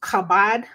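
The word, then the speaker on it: כָּבַד: it's used here is H 3513 which is pronounced kabad and it is it's meaning is weighty heavy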